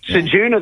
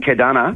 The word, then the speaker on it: Ceduna: Ceduna, they were pronouncing Kedana.